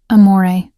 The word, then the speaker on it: amore: Amore, I said softly, demonstrating the proper pronunciation. The R is barely there. It's more of a suggestion than a sound.